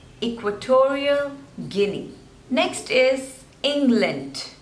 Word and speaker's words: Guinea: This one is Guinea. 2 syllables.